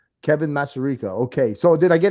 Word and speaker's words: Masarika: uh united kingdom fighter here with me kevin mazzareka um kevin hey tell me a little bit about you obviously i'm i butchered your name i'm sorry can you can